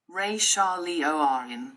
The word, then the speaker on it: Risha Lioran: Risha Lioran, pronounced. Ray Shah Liorin, starseed origins.